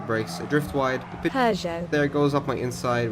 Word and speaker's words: Peugeot: But you can see the Pidgey out there. I think that's how I pronounce the manufacturer. Okay, so future me here, apparently it's pronounced Peugeot.